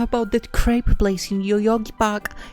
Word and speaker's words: crepe: was supposed to check how you actually properly pronounce that because i always feel like i'm saying it differently great crepe okay crepe crepe really despite the fact that there is no